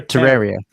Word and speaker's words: Terraria: Terra, Ter, Terraria. Terraria. Terraria. Terraria. Like a Terrarium.